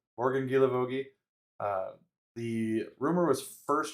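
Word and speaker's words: Guilavogui: Uh, we have Morgan Gilavogi. We had to look up how to say look up how to pronounce that one. Uh but according to uh YouTube pronunciation guide, it is Gilavogi. So Gilavogi.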